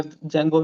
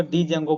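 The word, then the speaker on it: Django: जेंगो का भी मुझे कुछ नहीं आता था, जेंगो का डी भी नहीं आता था। मेरा ये हाल था कि मैं जेंगो को डी जेंगो बोलता था, क्योंकि मुझे मालूम नहीं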